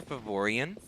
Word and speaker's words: Faevorion: posted on facebook so we usually call her favorian um because we don't say her name in